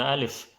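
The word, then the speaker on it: ألف: So it can be pronounced differently, the alif. And then if you want to learn how to say alif, it's very simple. You say lif, lif, alif, alif, alif, alif, alif.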